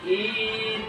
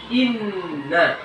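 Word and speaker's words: إِنَّ: Kemudian dalam harakah ya, memanjangkan harakah pendek, misalnya inna dibacanya menjadi in, nggak boleh ya. Itu sudah menyalahi in, jadi itu sudah menyalahi. Yang benar inna, jelas bukan in, itu nggak boleh.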